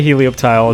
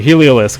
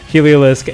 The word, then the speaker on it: Heliolisk: with volt switch um helio heliolisk i always say helioptile and sarto called me out for that the heliolisk i'm just say it correctly this time heliolisk and uh also passimian